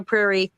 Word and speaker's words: Prairie: And so indeed, it is Confessions of a Prairie, rhymes with which, how I survived Nellie Olson and learned to love being hated.